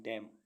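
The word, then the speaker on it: damn: condemn मीस निंदा करना डी ए एम एन डम डम मीस बदुआ देना एस ओ एल ई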